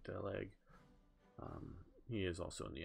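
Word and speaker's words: Daluege: That's, I believe, Walter Delug. I believe that's how you pronounce his name, Delug.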